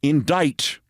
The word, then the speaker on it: indict: remains a fear, that I'll pronounce it just like it's spelled, like she did. So I spell indict, I-N-D-I-G-H-T.